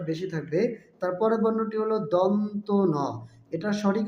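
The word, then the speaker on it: দন্ত্য ন: ধ হলো মহাপ্রাণ বর্ণ বাতাসে চাপ বেশি থাকবে তারপরের বর্ণটি হল দন্তন এটার সঠিক উচ্চারণ হবে এ বর্ণটি সঠিক উচ্চারণ হবে দন্তন অনেকে দন্তান্য বা বিভিন্ন ভুল উচ্চারণ করে থাকে সঠিক উচ্চারণ হবে দন্তন তারপরের বর্ণটি হল প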